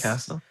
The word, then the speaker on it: Cassel: And Vincent Castell, is that how you pronounce his last name? Oh, yes. Castle.